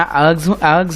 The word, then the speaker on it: erg: जिहड़ा अर्ग्स हैगे ने, अर्ग एक ERG अर्ग बोलते हैं, इहनूं अर्ग बोलते हैं, आर जिहड़ी है साइलेंट हो जाती।